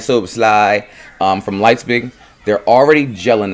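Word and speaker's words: Szoboszlai: Say his name right, Soboslai, from Leipzig.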